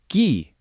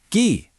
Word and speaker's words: 기: Just adding ghee, pronounced ghee.